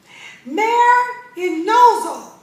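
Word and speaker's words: μεριμνάω: And so there's another word, and it is pronounced merinozo. And it's M-E-R-I-M-N-A-O.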